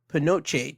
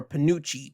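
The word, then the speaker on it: penuche: There's nothing for Thursday, but July 22nd, it is Pinoche Day or Panucci Day. Either way how you say it, Panucci is basically a brown sugar esque type candy.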